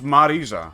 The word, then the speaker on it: Marisa: of Marissa's business no I won oh it's mariza okay I'm not gonna pronounce that correctly oh and found first time